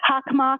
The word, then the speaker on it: Hockomock: Hockomock. Okay, thank you very much for the pronunciation.